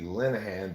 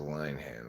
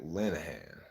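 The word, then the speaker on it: Linehan: now if you have your last name be linahan but it's spelled line hand I bet everybody mispronounces his last name just like me I've had everybody says lion hand when they see it when you see it you don't think Lenahan um hi there chaos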